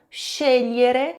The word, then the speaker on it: scegliere: Esse s em italiano se pronuncia che. E o Gli l vai ter o GL em italiano, vai ter o som de LH do português.